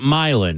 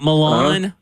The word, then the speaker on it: Milan: All right, so you pronounce it Milan. It's not Milan.